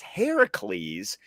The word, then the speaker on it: Heracles: Heracles is the way you say the name in Greek. Hercules is derived from Latin, which would be the Roman name of the character. So the fact that they had him pronounce it as Heracles is actually more authentic if we're doing this based on the Greek origin of the stories.